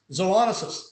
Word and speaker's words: zoonosis: look at the accent where the accent is in the preferred pronunciation it's on the second syllable which is on zonis zoonosis look at this zoonosis